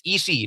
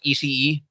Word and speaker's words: Ishii: It's Ishii, not Ishii. So no, even people on AEW TV get it wrong. It's actually Ishii. It's just parang ba anglicized kaya ganun yung spelling, Ishii.